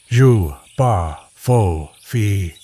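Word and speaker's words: J'ba Fofi: The legend of the Xiopi, pronounced Zu Ba, Faux Fi, has been told in parts of Gabon and the Congo Basin for generations.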